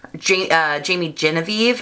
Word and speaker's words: Jamie Genevieve: Now this is a new influencer brand from the Scottish beauty blogger Jamie Genevieve, I think is how you say her name.